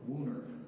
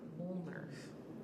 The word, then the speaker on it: Woonerf: Can you pronounce that one more time? Woonerf. Woonerf.